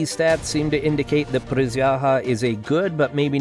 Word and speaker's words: присяга: It's pronounced prисяга, and it means oath.